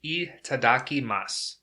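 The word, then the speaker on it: いただきます: Once again, that's itadakimasu. It's spelled I-T-A-D-A-K-I-M-A-S-U.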